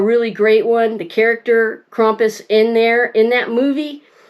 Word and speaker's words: Krampus: If you are not familiar with Krampus or in the United States here we pronounce it Krampus.